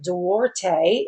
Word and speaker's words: Duarte: This is Nancy Duarte, is how you say her name, and she is a very skilled lady.